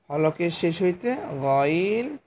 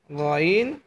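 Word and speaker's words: غين: ঠিক আছে, অ্যান্ড 3 নম্বর মাখরাজ হলকের শেষ হইতে গইন হ উচ্চারণ করতে হয়। হলকের শেষ কোনটা? হলকের মধ্যখান হইতে আইন হা, অতএব এই যে শেষ। হলকের শেষ হইতে গইন হ উচ্চারণ করতে হয়।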